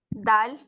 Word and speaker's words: دال: دال. It is pronounced when the tip of your tongue touches the roots of your top front teeth.